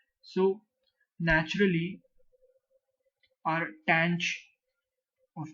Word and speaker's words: tanh: over X DX and the way you pronounce this is tan CH so but before we